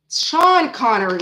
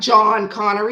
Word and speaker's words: Sean Connery: Sean Connery, not John Connery.